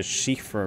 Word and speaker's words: Siofra: today we're here in the shifra river I believe that's how it's pronounced and before we kind